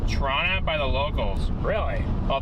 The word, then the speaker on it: Toronto: Toronto is pronounced Toronto by the locals.